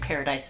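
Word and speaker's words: Pair-a-Dice: highest paid prostitute in paradise um which is spelled p a i r dash a dice like gambling paradise um but obviously it's supposed to sound like paradise as well so he sees her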